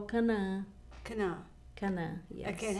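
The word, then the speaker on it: Canaã: Cana. Cana, yes. Okay, and how do you spell that for those who want to Cana do Google is- search?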